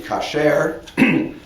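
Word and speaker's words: כשר: But in biblical Hebrew, the word would be kasher, although the Bible never uses this word with connection with food.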